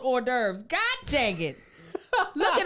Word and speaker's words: hors d'oeuvres: that in cul-de-sac so when I read hors d'oeuvres in a book I said what is how is that race they were like boy that's hors d'oeuvres I said hors d'oeuvres you got all kind of letters you don't need in there yeah no and they